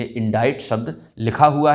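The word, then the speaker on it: indict: अगर आपने पहले ये वर्ड नहीं देखा होगा तो निश्चित ही इसके लिए आप कहेंगे इंडिक्ट, this is नॉट इंडिक्ट, इसे प्रोनाउंस किया जाता है इंडाइट, इंडाइट, है ना।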